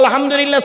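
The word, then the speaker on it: الحمد لله: দেখেন নামাজ পড়তে গিয়ে আলহামদুলিল্লাহ সূরা পড়েন বাবা বলেন না একটু কথা বলুন না আলহামদুলিল্লাহি রাব্বিল আলামিন এই মা বোনেরা ভালো করে শুনে নিন আলহামদুক এ গলার ভেতর থেকে হে এটা উচ্চারণ করবেন আলহামদুলিল্লাহ এর মানে কি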